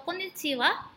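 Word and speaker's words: こんにちは: benar kita hanya menggunakan kata konnichi ha atau Konnichiwa yang lebih kepada familiarnya yang kalian akan sering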